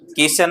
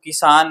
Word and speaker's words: किसान: highlight तुम ही देखोगे किशन नहीं है वह किसान है किसन और किसान के आगे कुछ